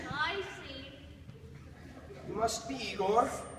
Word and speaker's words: Igor: You must be Igor. No, it's pronounced Igor. But they told me it was Igor.